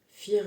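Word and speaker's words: vier: Je te rappelle le F le 4 fir en en allemand qui se prononce, tu vois, ça s'écrit V. Euh et ça se prononce F.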